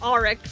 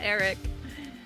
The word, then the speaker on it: Aric: If you were here last time, you saw that when we started, we just had Or yeah, we learned it's pronounced Aric, not Eric.